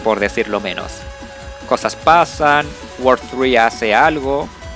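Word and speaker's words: WWW: se pronuncia World 3.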